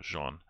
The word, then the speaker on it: Jean: with let's go with jean but it's spelled like gene so jean um a little french there so yeah so i